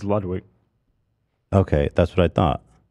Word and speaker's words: Ludwig: Are we saying his name wrong? People are saying Ludwig. Or is that a meme? It's Ludwig.